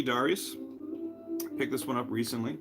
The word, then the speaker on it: Darius: And also, come to find out, it's actually, if you go by the Japanese pronunciation, it's pronounced Darius. Who knew? Yeah, G Darius.